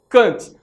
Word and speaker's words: Kant: à filosofia de Emanuel Kant ou em alemão pronúncia cant não é eh em